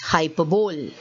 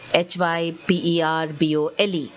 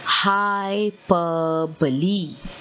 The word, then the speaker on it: hyperbole: remember the pronunciation is hyperbole okay see the pronunciation here the word is uh said very differently from the way it is written so what is the pronunciation of this word it is hyperbole so remember never make